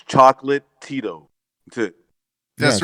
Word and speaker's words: Chocolatito: It's Chocolatito.